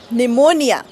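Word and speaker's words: pneumonia: cartoon मध्ये वगैरे असतो हा यांची स्पेलिंग ना पीने का सुरू होतीय जर बोलायचच नाहीय पी तर या पी च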